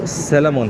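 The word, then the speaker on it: salmon: boss मैंने वहां पर बोला था कि जो सेलेमोन है आई नो कि उसका एल साइलेंट है वो वहां पर लाजिम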